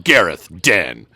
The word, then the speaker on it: Gareth Den: and rocket launchers where Gareth Den I love that name Gareth Den uh and that's that's exactly how they say it in the game too Gareth Den wins okay